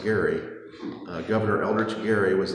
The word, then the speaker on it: Gerry: uh the actual this Jerry Mander this is a cartoon that was printed in 1812 in Massachusetts there was a governor named eldrich Jerry uh only was name was pronounced Gary uh Governor eldrich Gary